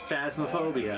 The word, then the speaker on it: Phasmophobia: phasmaphobia oh i was right on how to pronounce it phasmaphobia i was right all right let's go